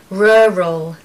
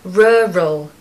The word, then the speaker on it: rural: need to do is make this very strange and unusual sound which is r r r r roll R roll the focus and and the stress is on the first syllable and you need awah in the second part so you need to